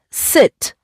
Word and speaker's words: sit: And I sit. This is a short sound.